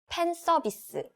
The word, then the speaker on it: 팬 서비스: 팬 서비스. Fan service. Right, we don't have F sound in Korean pronunciation, so we just use P sound instead. So it's 팬 서비스. Okay.